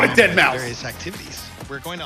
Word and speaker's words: deadmau5: a metaverse what on tour professionally known as deadmau5 yes that is the correct way to pronounce it tell your friends we're here to